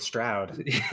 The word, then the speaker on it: Stroud: secret was CJ Stroud Cloud rhymes with Stroud Cloud does rhyme with